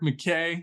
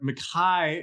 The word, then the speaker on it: McKay: And today we got a special treat for you because we're having McKay. McKay, excuse me. That's the correct Scottish pronunciation.